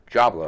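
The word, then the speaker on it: Djablo: It's D-J-A-B-L-O. I guess it's supposed to be some kind of like, maybe Diablo, like version, like, or Jajablo, I'm not really sure how it's pronounced. Or actually, if I read further ahead, I would figure it out. So, Jablo, this is Power Jab. Jablo, pronounced Jablo, all right, cool, has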